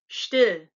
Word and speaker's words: still: And then still, not still, but still. Kind of like, they talk in Yiddish and they say the word shtick. That's like that. So still, sprechen.